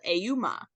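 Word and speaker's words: Ehoumn: like a man or something like that but it's spelled auma you're never gonna get that from him saying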